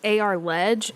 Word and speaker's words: ARLEG: You can also search AR Ledge. It's spelled ARLEG on social media as well.